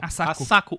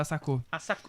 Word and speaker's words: Asako: Asako. 1 e 2. A Cris me ensinou a pronunciar Asako.